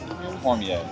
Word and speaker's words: Cormier: And you said it right, Cormier.